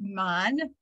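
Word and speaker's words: מן: So going back to the manna and naming that, the word man, so it's translated as manna in English, M-A-N-N-A, but the Hebrew is mem nun, man. That's how you say it.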